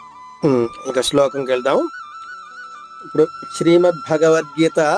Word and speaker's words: భగవద్గీత: మరొక్కసారి ఓం శ్రీ పరమాత్మనే నమః శ్రీమద్ భగవద్గీత ఇక్కడ భ అనేది మహాప్రాణము ఒత్తుంది.